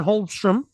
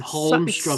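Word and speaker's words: Holmström: The Islanders signed free agent Simon Holmstrom to a 1-year deal as well. He's going to be. Did you just pronounce the L?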